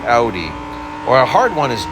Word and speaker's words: Audi: things right or a lot of people say Audi it's like no it's an Audi or a hard one